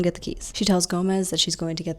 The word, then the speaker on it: Gomez: Gomez, still eating the octopus, says, "By the way, Gomez is pronounced Gomez."